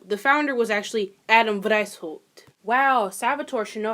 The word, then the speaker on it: Weishaupt: Adam Wienerschnitt. White. Oh, Lord. Is that German? Wow, it is German. Wow, I should probably fucking know that. So, the founder was actually Adam Weishaupt.